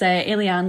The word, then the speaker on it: Ayliean: pronounces it differently um it's alen like an alien I am um I'm